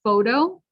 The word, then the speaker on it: photo: to so it becomes a clear t so photo photography you got the last one great reality